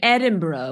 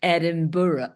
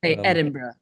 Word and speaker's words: Edinburgh: not do anymore or Ed Edinburgh which Americans called Edinburough Edinboro or something oh yeah there there's a lot of these uh Edinburgh leester Lester Worchester Shire